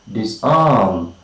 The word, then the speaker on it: disarm: Okay, so words of two syllables beginning with the prefix dis, take the primary stress on the second syllable.